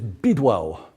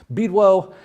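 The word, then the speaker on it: Bydło: a little bit about is bidwell mostly mispronounced it's actually a polish name beedwell is an ox pulling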